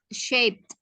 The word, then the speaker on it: shaped: I saw a cloud shaped like a tree. Jadi shape-nya itu bacanya pakai T ya.